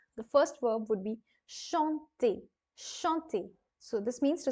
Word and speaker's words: chanter: Please remember that each and every er ending verb will be pronounced as a in the end. The sound will come out as a in the end. So that is true for all of the verbs of this category.